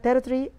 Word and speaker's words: territory: اشترت من فرنسا ارض اسمها the Louisiana territory. طبعا هي territory is the pronunciation احنا نعرفه لكن هم هنا بينطقوها territory لان التي في النص بتتخطف فهي the Louisiana territory whatever or Louisiana.